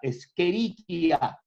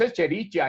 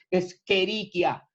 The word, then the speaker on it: Escherichia: Recuerde que la Escherichia, así bien pronunciado, no es Escherichia, es Escherichia. La Escherichia coli es un